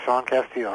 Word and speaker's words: Casteel: Am I pronouncing that correctly, Sean? Yes, you are, Sean Casteel.